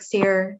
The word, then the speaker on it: Sear: Is it Sear? Yes, that's correct. Okay. Sergeant Sear with Oregon State Police